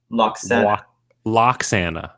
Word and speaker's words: Lwaxana: flare I guess maybe how do you say her name Lo lock yeah like bagel and locks yeah CU it's spelled loks right it's like LW yeah it's just kind of like luxan so it's a silent W I think so